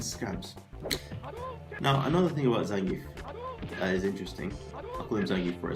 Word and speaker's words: Zangief: hilarious of course ah the big old bear zangief as he's properly pronounced you know what does that give me